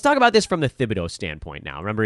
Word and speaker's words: Thibodeau: team didn't know that his last name was actually pronounced Thibodeau. They thought his last name was Thibodeau, so they started calling him Tibbs.